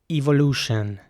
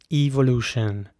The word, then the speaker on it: evolution: would say evolution evolution so the e at the beginning is pronounced like an e evolution and the entire last part of the word the t-i-o-n is pronounced shin with a 'shin' sound evolution evolution sorry not evolution